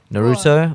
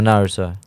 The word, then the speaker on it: Naruto: is a controversy already Naruto or Naruto I say Naruto personally Naruto no it's Naruto you say the American way what okay what's the Japanese way the Pokemon artists thank